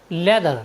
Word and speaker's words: leather: और नेक्स्ट हमारा word meaning है LEATHER, लेदर, लेदर मीन्स होता है चमड़ा। साथ ही यहाँ पर TH के बाद E आया है, इसलिए हमने TH का उच्चारण द किया है।